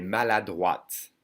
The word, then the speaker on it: maladroite: You would add an E and you hear the E. Then you would hear the T. Elle est maladroite.